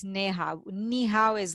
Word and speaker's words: Neha: Oh, so I have to tell them, no, it's not ni hao, it's neha.